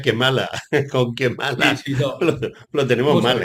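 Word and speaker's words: Kamala: que mala Porque además se escribe camala pero se pronuncia kemala con quemala lo tenemos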